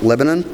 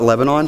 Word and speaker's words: Lebanon: I currently live in Shreveport, and I'll be moving to what I've been told is pronounced Lebanon, and I call it Lebanon, so I'll get it right when I move here.